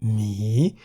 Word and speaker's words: หมี: Examples of words containing Sara-E are mi in the middle tone, meaning to have, and mi in the rising tone, meaning the animal bear.